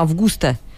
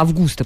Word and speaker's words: Августа: И не именно Августа, а Августа почему-то. У нее там даже ударение проставлено.